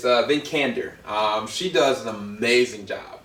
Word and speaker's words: Vikander: How do you pronounce her last name? It's Vikander.